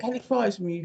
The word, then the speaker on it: helichrysum: Is is it the same plant, but it's the no, is it helichrysum? Helichrysum, is that how you pronounce it?